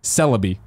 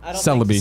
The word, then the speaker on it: Celebi: Zyger says Celebi is pronounced Celebi. Kind of like celibate. Celebi.